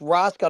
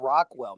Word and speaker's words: Rosal: stanonis absolutely absolutely Rosal it's Rosal not Rockwell man you just put